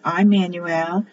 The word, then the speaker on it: Immanuel: In Hebrew, it's Immanuel, which is pronounced as an E.